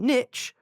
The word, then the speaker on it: niche: rhymes with Shish and Niche rhymes with pitch it's supposed to be Niche now see cuz what